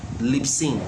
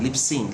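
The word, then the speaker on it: Libsyn: like um lips okay l-i-b-s-y-n how do you pronounce that l-i-b-s-y-n lip sync lip sync lip synth is also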